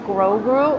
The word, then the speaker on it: Grogu: It's pronounced Grogu.